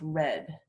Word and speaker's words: read: So in the past tense and the past participle, they're the same, and it's pronounced red, Oh, okay. like the color.